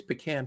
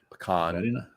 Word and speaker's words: pecan: My number 3 is pecan pie. Pecan. Pecan. Depends on where you're from, how you say it.